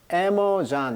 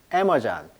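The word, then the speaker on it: Amazon: 원자인데 어원이 마찬가지로이 에머전도요 강세가 이름 전해요 그래서 애모잔 이렇게 읽습니다 우리가 아마존 그러는데 영식 발음은 에머잔 에머전 그래서이 마존이 이게 가슴이란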